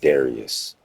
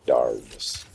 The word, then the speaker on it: Darius: ] is Darius bro it's pronounced Darius not darus Cameleon I ain't seen